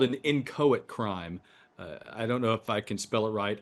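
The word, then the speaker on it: inchoate: your show today for this it's called an incoit crime I don't know if I can spell it right i n c h o a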